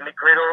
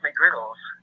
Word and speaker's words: McGriddles: And then every time I go to McDonald's, they're saying, "Can I get you McGriddle?" And I'm looking like, "Well, you're saying the name wrong. It's McGriddles."